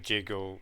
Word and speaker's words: jiggle: The G becomes they they don't understand the soft G and the hard G in English. So instead of jiggle, they've just put giggle, which of course has a different meaning.